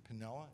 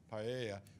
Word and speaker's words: paella: And the ones we have coming in this year is Fire and Rice, which they do at Pinella. Is that how you pronounce it? Paella, which is Spanish.